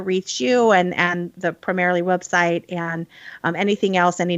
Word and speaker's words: Primerrily: you can find us primarily as a portmanteau of primer and merrily like the new england primer of education and merrily down the stream so it's spelled differently than it sounds to solve that we've